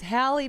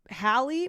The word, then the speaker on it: Halle: was saying it right It's Hali Bailey because then there's Halib Berry and I remember it's Halley pronounced the same with similar last names Hi Bailey God I had it right the first time It's not Haley Bailey No Old man Talius